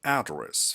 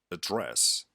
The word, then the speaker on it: address: Sometimes the placing the stress on the wrong syllable completely changes the word. The word address, for instance, isn't the same as the word address.